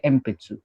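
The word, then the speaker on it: 鉛筆: वैसे इधर क्या पी आया, पी सीरीज, इसलिए एम्पित्सु.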